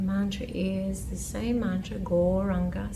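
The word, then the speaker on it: Gauranga: Goranga, said in 4 syllables.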